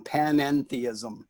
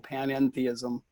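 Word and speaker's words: panentheism: would call that um pan-enthism it's like pantheism with another syllable pananthism we are in god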